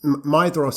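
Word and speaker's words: Maedhros: as well is that you don't pronounce the d like a d it's a th yeah i always struggle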